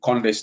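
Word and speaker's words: Condé: time they spelled President Conde's name wrong. They call CODE, code, instead of CONDE.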